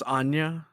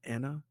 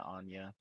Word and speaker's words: Anya: can tell oh and it's Anya I have you know not Anna and yeah Anya oh it's on oh well you can't love her unless you say her name right she has five names